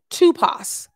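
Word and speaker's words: typoi: t y p o i and it's actually pronounced tupas tupas the greek word for impression is tupas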